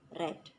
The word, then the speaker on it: read: tapi pada sub keduanya penulisannya tetap readkey dibaca red untuk penguasa ini kalian